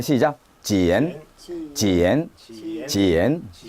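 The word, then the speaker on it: 茧: 이것은 어떻게 발음해? 시작. 지엔, 지엔, 지엔.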